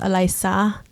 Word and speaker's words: Alysa: like alyssa but it's you have to pronounce it with like a spanish or filipino accent actually it's pronounced elisa and no one i'm